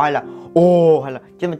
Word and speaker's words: Oh: là O hay là O hay là, chứ mà chỉ đọc là O, O như chữ O bình thường của tiếng Việt Nam mình thôi là được rồi.